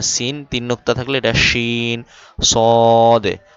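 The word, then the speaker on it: ص: নুক্তা নাই এজন্য সিন তিন নুক্তা থাকলে এটাশিন সদে দ অনেকে সোয়াদ বলে দোয়াদ বলে তো সয়াদ দোয়াদ না সদে দ এভাবে বলতে হবে সদে দ।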